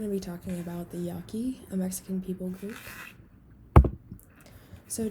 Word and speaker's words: Yaqui: just some general information they're called the yaki and you have the pronunciation written out for you there but they also call themselves the hiyaki meaning literally person or people in their language you'll find them in